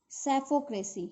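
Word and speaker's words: psephocracy: And last word is sapphocracy. Here this P is silent.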